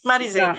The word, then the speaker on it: Marizel: Yes, Marizel.